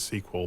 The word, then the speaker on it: SQL: well I don't know well Microsoft pronounces it sequel but mysql is just